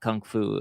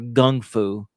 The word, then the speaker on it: kung fu: we'll definitely talk about Kung Fu or Gung Fu, if you pronounce it the right way.